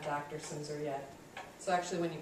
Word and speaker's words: Silmser: saying my name um it's simor on the last name if you care um it's spelled kind of strangely and yeah that L is silent it really throws people